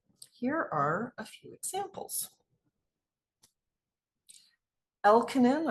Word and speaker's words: Elkonin: Elkonin, I've also heard it pronounced Elkonin, boxes.